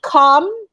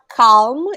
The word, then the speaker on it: calm: b is silent okay com it's not calm it's com l same with l